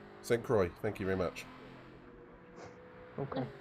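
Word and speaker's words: Sainte-Croix: So, Pedro, how do you pronounce this track properly? Say... Santa Croix. St. Croix, thank you very much.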